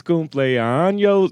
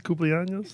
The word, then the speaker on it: cumpleaños: It's like, Feliz cumpleaños. That's all I know. And they just start going off how you into pronounce it? Feliz cumpleaños.